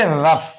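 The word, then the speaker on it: rough: तो अंत में आएगा जैसे आर ओ य जीी एच तो गा इसको क्या पढ़ेंगे रफ क्या पढ़ेंगे जी एच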